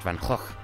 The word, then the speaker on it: Van Gogh: Excuse you, it's pronounced Van Gogh. Do you even Dutch, my guy?